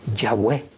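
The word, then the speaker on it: Yahweh: que soy ese es yahwe ya fue saben ustedes que el respirar pronunciamos el nombre del señor esa es las dos las dos sílabas ya y ge ya es ya cada vez que tú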